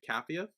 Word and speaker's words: Capheus: Cathia.